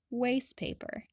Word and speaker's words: waste paper: may have already guessed comes with a dropped t remember that dropped ts usually occur between two consonant sounds which in this case are s and p so the resulting pronunciation is waste paper pretty cool huh try